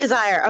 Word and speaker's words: Chizire: The Amaroon, shoot, how do we say his name? Chizure? Yeah, sure. Chizire? I've been saying I think Chizire is what I've been saying. Chizire. Okay, there we go.